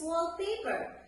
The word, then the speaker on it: wallpaper: I'm sure you know what is wallpaper. Wallpaper is made up of wall and paper. So we put the stress on the first noun, that is wallpaper.